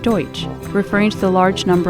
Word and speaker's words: Deutsch: Louis and explained that the Dutch in Dutch town was actually a mispronunciation of the word Deutsch referring to the large